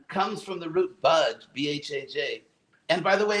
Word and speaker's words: bhajan: It's actually the word bhajan, like it's like when you pronounce this word budge, like I'm not going to budge.